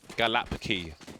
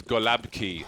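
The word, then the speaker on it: gołąbki: message me and say what the f is galapa key because it's golabki so excuse me for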